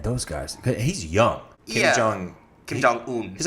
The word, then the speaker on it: Kim Jong-un: Kim Jong-un.